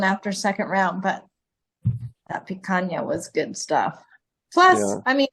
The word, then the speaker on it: picanha: Picanha? Picanha.